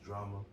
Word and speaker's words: Jrama: My name is Jrama. Drama with a J.